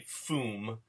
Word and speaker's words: foom: Yeah, and this is, by the way, I'd like to point out that the poof sound is not poof, but actually foom.